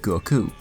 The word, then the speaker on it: Goku: the way I said Goku. The simple reason is that's how it's pronounced. Watch anything in the language that word is from and you'll hear the emphasis placed on the second syllable.